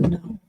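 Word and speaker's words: Noël: And then let's go and talk to Noel first, or Noel. In the UK, it's Noel spelled like that. Noel would be Noe. In French, that is Noel because Noel means Christmas.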